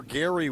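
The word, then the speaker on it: Gery: Wait, Jerry or Gary? Now I'm confused. Gary Wolfel. On Twitter at Gary Wolfel. Gary with an E.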